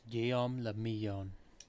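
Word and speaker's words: Guillaume La Million: meant only one thing guillaume lamillion if it doesn't rhyme you're not pronouncing it right guillaume la miyan out of the dazzling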